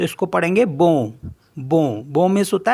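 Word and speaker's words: bon: एन को बी ओ एन तो इसको पढ़ेंगे बो बो बो मीस होता है गुड एस ओ एन तो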